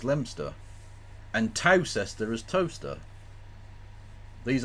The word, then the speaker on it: Leominster: as gumer true and Leominster as lemster and tester is toaster